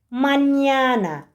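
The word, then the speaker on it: mañana: Sadece İspanyol alfabesinde olan bir ses en yinde şöyle bir işaretle gösteriliyor arkadaşlar. Okunuşu en ye. Türkçedeki bu harfi gördüğümüz zaman en y seslerinin birleşimi gibi olacak. Manyana. Manyana mesela arkadaşlar.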